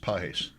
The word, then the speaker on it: Pages: There are two players with the name P A G- S. They're pronounced Pes.